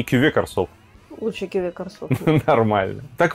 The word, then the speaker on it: Карсов: И как бы даже непонятно, где тут ударение, но судя по тому, что Шато Ле Гранд Восток, да, это ударение должно быть на последний слог, соответственно, Корсов.